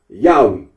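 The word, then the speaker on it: Yahweh: that of those who regard this name as anciently pronounced yahwe like the Samaritans now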